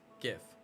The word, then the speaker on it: GIF: Go to school and you'll learn that the G makes a G sound. G. Alright. So it is GIF.